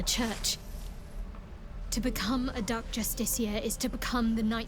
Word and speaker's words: justiciar: I played some other games where they pronounce this word as justicar, which, yeah, I guess justiciar makes more sense now that I look at it. I'm assuming that's the real pronunciation.